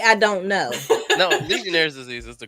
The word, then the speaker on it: Legionnaire's disease: No, Legionnaire's disease is the correct pronunciation.